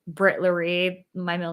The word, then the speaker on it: Laree: But yeah, you say my handle, it's Britt Laree, if you're ever wondering. Fun fact. That's Laree is my mom's name, and it's spelled just like my handle. And she got called like Larry so much in her life.